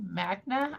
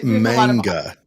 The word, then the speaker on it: manga: It's not Traname, but um it's called It's called um M A G N A Magna, I think is how you pronounce it.